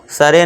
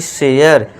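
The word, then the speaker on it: share: इसे क्या पढ़ेंगे डेयर अब इसे करे मत पढ़ना केयर सरे नहीं शेयर डरे नहीं डेयर है ना ए का साउंड देना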